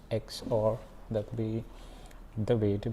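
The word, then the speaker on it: XOR: the next part nand there is no and x or it's not zor it's x or that be the way to pronounce it mean that's the way i would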